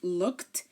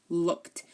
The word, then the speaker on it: looked: Now, if you notice when I pronounce looked, it sounds like if I was to write it, it would be L-O-O-K-T, looked. So the ed is pronounced like T.